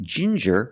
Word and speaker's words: ginger: With ginger, we use the J sound, like juice and jump, j, and the regular N, ginger.